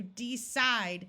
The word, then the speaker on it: decide: If people wanted to emphasize the word, they might clearly say the long E, like, I am going to decide to do it. But most of the time when people are speaking quickly, these long E sounds disappear and sound more like a short I because the first syllable is not accented and the second one is.